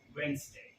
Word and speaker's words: Wednesday: महादेव ने गलत बोला, लेकिन इस बार the correct pronunciation is वेंसडे।